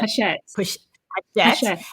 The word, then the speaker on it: Hachette: by Hachette, or you told me how to pronounce that. Hachette and Little Brown book.